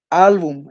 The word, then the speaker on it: álbum: agenda no lleva tilde álbum es una palabra que se carga la voz en la penúltima sílaba Entonces es una palabra